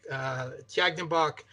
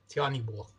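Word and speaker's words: Tyahnybok: Yeah, the Russian tilt pronunciation is Oleg Tyagnybok. The Ukrainian pronunciation drops the G's for H's, so it's Oleg Tyagnybok.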